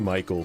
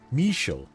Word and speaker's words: Michel: Is it Michael or Mitchell? Am I saying it wrong? I always see it as Michael, but I know that's not what that says. Michel. Okay. Oh, okay. Got it. It's French. Okay, that's cool.